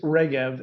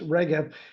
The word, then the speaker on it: Regev: bit about it yeah the product is regev and and yeah some people want to pronounce it other ways but it's regev and it's really an